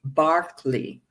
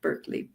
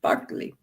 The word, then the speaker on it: Berkeley: England, an Anglican bishop whose name is pronounced George Barkley, if you're British, not Berkeley, Barkley.